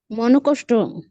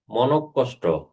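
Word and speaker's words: মনঃকষ্ট: আচ্ছা বলেন তো এই শব্দটা উচ্চারণ করেন তো মনকষ্ট মনকষ্ট মনকষ্ট মনকষ্ট নটা কটা দুইবার উচ্চারণ হবে যেমন দুঃখ বিসর্গের পরবর্ণটা উচ্চারণে দিতে হয়।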